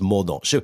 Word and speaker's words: Mordaunt: Has to be pronounced Mordaunt. When she goes to France, they will love her because they'll assume she's a bit French.